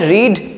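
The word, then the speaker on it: read: হবে মানে রিড, এই রিড ভার্বের ব্যবহার করব, কিন্তু রিডের থার্ড ফর্ম সেটা হবে রিড, রেড, রেড। তো এখানে রেড আমরা প্রনাউন্সিয়েশন করব, উচ্চারণটা রেড হবে কিন্তু স্পেলিং একই থাকবে।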